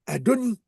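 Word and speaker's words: אֲדֹנִי: Et ben, elle disait Adonie. D'accord. Pas Adonaï.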